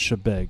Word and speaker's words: Chebeague: like big but it's actually pronounced shebeg and they always correct you and you always